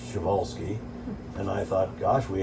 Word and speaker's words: Przewalski: you know cloning uh i i called him prez walske they call them p horses it's actually pronounced schevolsky and i thought gosh we haven't you know